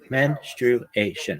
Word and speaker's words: menstruation: It's menstruation. It's four syllables, not menstruation. That's not right.